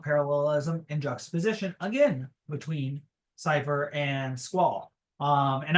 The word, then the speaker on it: Seifer: And I use that pronunciation because Zyger Gaming uses it, and that's how I heard it in my head growing up. So I stick with that. That's just why I say it.